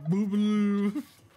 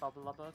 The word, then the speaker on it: Bubbalubber: Someone come and try and pronounce his name. Boobaloo. That's so wrong. This name, I've literally had the username Bubbalubber for probably about 23 years now, because I